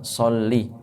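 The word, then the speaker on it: صلِّ: tadi disebutkan dalam kisah Allahumma sholli lamnya Jangan dipanjangkan karena kalau dipanjangkan arti ya berubah kemudian sholli ala sayyidina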